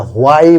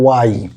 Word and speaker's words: why: যদিও অনেকে আমরা হোয়াই বলি, কিন্তু কারেক্ট প্রোনাউন্সিয়েশনটা হলো ওয়াই।